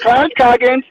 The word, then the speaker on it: Clarence Coggins: And everyone, I want to urge you, Clarence Coggins. Am I saying it right? Because I just been Yeah, like, you said it right. You said it right, Clarence Coggins.